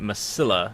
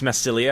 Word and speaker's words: Massilia: of M Melia massilia I've been calling it Milla instead of massilia so I believe it's massilia I believe that's at least closer to the proper pronunciation so here we have